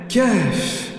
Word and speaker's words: Kahf: Remarquez que dans la prononciation de Kahf, Kahf, Kahf, vous avez un souffle qui entre dans la poitrine puis ressort.